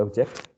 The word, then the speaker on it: object: one second one excellent what about the next object or object the first one the first one the first syllable exactly yes first that's